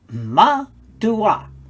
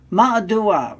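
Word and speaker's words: מַדּוּעַ: the dot so now let us read that ma dua ma dua meaning for what reason in other words why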